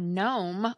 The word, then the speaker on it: gnome: The word gnome also comes to mind when you think of silent G, but that's not from Old English.